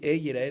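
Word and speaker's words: יֵרָאֶה: Ahorita, Yerae se escribe Yud Resh Alef Hei. Y se lee Yerae, pero también, y está bien escrito. Pero también se puede Yir'e, que quiere decir no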